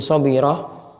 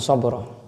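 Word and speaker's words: صبرة: Lakit bin Shirah radhiallahu anhu. Kalau di terjemahan bin sabroh di sini Syekh Abdul Al Fauzan bacanya shirah. Akit bin shirah sadnya di fathah kemudian bnya di kasrah dari Lakit bin Shirah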